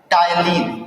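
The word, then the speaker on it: ptyalin: पहले प्रकार के एंजाइम का नाम होता है टाइलिन, ठीक है, टाइलिन नाम होता है। इसको में पी साइलेंट रहता है, टाइलिन।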